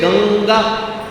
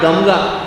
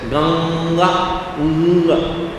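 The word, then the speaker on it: गङ्गा: Therefore ka kha ga gha Therefore when you say ganga it is not gamga it is not ganaga it is ganga It is not chamchala it is chanchala.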